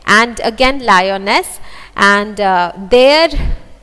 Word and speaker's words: Lyonnesse: So here in this stanza also we find that Lyonesse rhymes with guess and again Lyonesse, and there rhymes with declare and there.